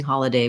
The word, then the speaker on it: holiday: about some other thanksgiving holiday words or again your questions looking at the word holiday we have first syllable stress letter o says the ah vowel so watch out for not rounding that vowel you don't want an